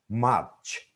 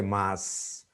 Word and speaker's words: much: Much, touch, but many people, Bengali speaking people mispronounce them. They say mas, please don't touch me mas.